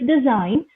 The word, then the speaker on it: designed: to uh say them it is designed where g is silent then malign and then